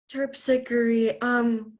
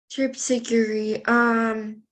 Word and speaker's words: Terpsichore: It's terpsichore and terpsichore. Terpsichore. Could you repeat the word, please? The word is just terpsichore.